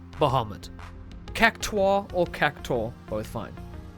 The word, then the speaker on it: Bahamut: Carbuncle, Leviathan, Pandemona, Bahamut, not Bahamut, Bahamut.